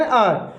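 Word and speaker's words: hour: तो मैंने कहा I have been doing my work for एन आवर, फॉर एन आवर। 1 आवर नहीं बोलेंगे, एन बोलेंगे, क्योंकि एच में जो है, आर में एच साइलेंट होता है, तो इससे पहले क्या आर्टिकल लग जाएगा?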